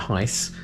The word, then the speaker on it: Gijs: ducktales it is so it's heist van or winklehoff no laughing at the back that's his actual name we'll leave a link to his channel up there it's not it's not spelt heist it's spelled g-i-j-s he's from the netherlands we're going to watch